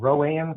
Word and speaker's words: Rowan: for North Carolina and Randy crest CIO of Rowan County North Carolina speakers can you get away